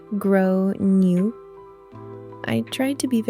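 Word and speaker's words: Gráinne: girl was named Gran, which is normally pronounced something like grow new.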